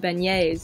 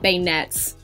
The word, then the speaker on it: beignet: a podcast and they were talking about beignets and i realized that that's what it is not bayonets so i thought i